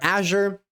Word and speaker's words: Azure: I know some people say Azure, some people say Azure or Azure, right? The French word is Azure.